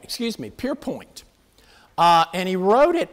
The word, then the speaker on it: Pierpoint: i had fun trying to learn how to pronounce this follow it stop stanford pierpont pierpoint excuse me pierpoint uh and he wrote it at the age